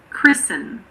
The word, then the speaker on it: christen: It's normally silent in words that end in S-T-E-N. For example, christen, fasten, listen.